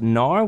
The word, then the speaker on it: Gnar: teeny tiny look at ganar first off I read somewhere that right things that his name is supposed to be pronounced nor with a silent G but it feels way